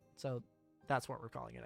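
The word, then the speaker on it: そ: You pronounce this as so. Like the word so. Like, so I'm going to go ahead and do this. Or, how could you be so rude? It's the same. So.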